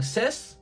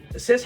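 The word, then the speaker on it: Cis: One being Sis. I believe that's how you say her name, C-I-S. If they wanted me to say it any way else, the spelling could have helped a little bit more, but I'm gonna say Sis.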